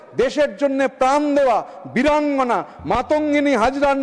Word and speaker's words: মাতঙ্গিনী হাজরা: জন্য প্রাণ দেওয়া বীরাঙ্গনা মাতঙ্গিনী হাজরার নাম বিকৃতি করে উচ্চারণ শুরু হলো মান্তাগিনী হাজরা, মান্তাগিনী হাজরা।